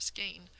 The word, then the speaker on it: skein: Just like I was hoping that thinking of vein or rain might help this word that we don't have any other variations of, skein, not seem as strange to you when you think of some other words in English that are like it.